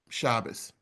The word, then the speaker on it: Shabbos: Um, like Erav Shabas. Notice I use the Ashkanazi pronunciation.